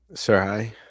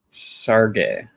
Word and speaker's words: Serhii: Serhii? Sergey. There's no G in there. It's no G.